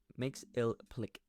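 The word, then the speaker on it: Mxyzptlk: tale Superman is dealing with the dazzly Mr mix ill Plick yeah I looked that up by the way that's how how you pronounce it and he's just messing with Superman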